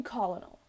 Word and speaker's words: colonel: voice please call me colonel is it colonel because colonel is not spelled like that it has to be